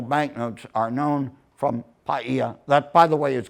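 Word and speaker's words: Pāʻia: notes are known from payia that by the way is correct but they're paying a lot of attention in hawaii now to the global stop and pronounce so it's not paya and uh but ten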